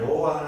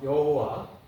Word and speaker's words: 여호와: 이거는 아 유대인들이 말하는 그런 하나님께 여호와 하나님 그들이 말하는 어 여호와 우리가 발음할 때 여호와라고 원래 발음할 수 없지만에 모음을 붙여서 여호와라 그러죠.